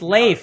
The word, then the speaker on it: Leif: No, Leif, like laughter. Yes, rhymes with safe.